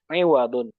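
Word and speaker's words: عِوَضًا: Bacanya awadan atau iwadon. Nah, ini butuh kamus ya. Nah, di kamus iwadun. Berarti ainnya kasrah.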